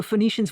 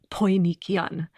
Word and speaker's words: Phoenicians: So Phoenicians, we pronounce it with an F sound, but it would have been pronounced Poinician.